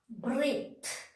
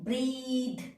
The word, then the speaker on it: breathe: H, breathe. We are telling breathe, no, breathe. That means TH is the last sound.